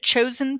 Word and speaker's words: Chozien: Is it Chozien Path? Yes, that is right. Okay, because it's spelled Chozien, and I kept saying chosen in my mind and then thought, I hope that's correct.